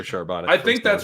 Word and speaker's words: Charbonnet: Bell cow that's right I'm saying I'm continuing to say charbonnet until until I hear sharbana I think that's right